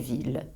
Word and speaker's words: ville: Je prononce ville ou tranquillité, mais meilleure et vieille. Je prononce la phonétique le ou la phonétique ye.